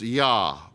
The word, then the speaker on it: Yah: What we can be probably more sure of is that the first syllable is Yah, Y-H, with the consonant, the vowel in between, A sound, Yah, Y-A-H.